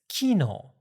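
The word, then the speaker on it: 機能: But I believe in Osaka it's kino and that's a different word in standard Japanese. That's the word for function in standard Japanese. Kino in standard Japanese is function and kino is yesterday.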